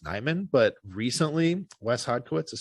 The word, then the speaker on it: Nijman: name as being pronounced Nyman, but recently Wes Hodkiewicz has started saying it as Nijman. So we got like the J coming back into it, which is like everyone just started saying it Nyman finally.